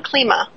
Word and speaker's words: Klima: esso and a special guest john klima that is how you pronounce it right correct okay good john klima who is just very well known in the